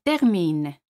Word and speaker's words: terminent: Normalement, ils terminent. Aquí ENT no se pronuncian.